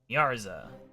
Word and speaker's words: Miarzqua: My name is Miarzqua. I don't know the reference here, so I can't pronounce it. Pleased to meet you? Miarzqua. Oh, with a silent Q. Miarza.